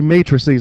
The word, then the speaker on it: matrices: that word is Matt races but it's actually matrices I don't know how the English language why it's supposed to be pronounced that way everybody says math doesn't make